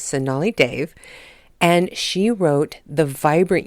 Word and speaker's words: Sonali Dev: You know, I was gushing about her not too long ago, and I was probably pronouncing her name wrong in the last show, but her name is Sonali Dev, and she wrote The Vibrant Years, which actually comes out tomorrow.